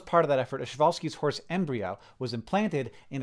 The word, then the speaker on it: Przewalski's: Przewalski's horse is not pronounced like that. It's pronounced Przewalski's horse.